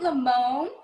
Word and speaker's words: Lamon: with you yeah let's do it all right lamone um and you said it and you pronounced my name right thank you professional here